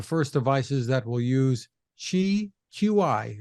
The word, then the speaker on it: Qi: devices that will use Chi Qi it's pronounced Chi 2.0 so give us